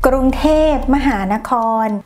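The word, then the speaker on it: กรุงเทพมหานคร: ay hindi ganon kasimple at ganito ang tamang pagbigkas krung thep mahanakhon amat R sakya Wis kamit meron itong 168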